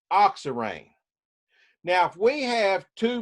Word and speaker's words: oxirane: itself with no hydrogen's on it is called ox array o X i ra in e oxirane now if we have two methyls on here